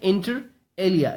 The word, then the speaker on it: inter alia: is an adverb and the pronunciation is inter alia it's alia okay inter alia okay the